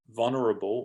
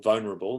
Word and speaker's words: vulnerable: The lecturer said, when talking about the bridges, they were also vulnerable, or vulnerable, there's two alternative pronunciations.